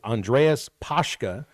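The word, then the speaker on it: Andreas Paaske: I wasn't quite sure how to pronounce his name until I heard one of the reporters at the presser yesterday with Petrino say it's Andreas Pashka, 6'6", 265 from Copenhagen.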